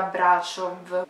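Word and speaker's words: Brașov: Allora, si scrive Brasov, ma sono quasi sicura che si legga Brasov, quindi dirò Brasov.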